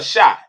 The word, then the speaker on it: Shai: Is it Shay or Shai? Is it Shay? It's Shay. It's the same Shay. I don't want to mispronounce my brother. It's the same everyone says it's Shay.